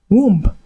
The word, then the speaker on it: womb: Dear students, do not pronounce these common English words as bomb, womb, comb, or climb. This is because the B are absolutely silent.